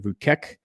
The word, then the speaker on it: Vučić: Serbia's Alexander Vučić, I think is how you say his name. Somebody will surely correct me.